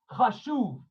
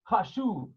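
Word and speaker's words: חשוב: How do you say important in Hebrew? 10, right. Chashuv. Chet, shin, vav, beit. Chashuv.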